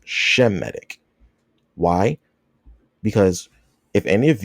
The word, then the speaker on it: Semitic: The term is properly pronounced Shemitic.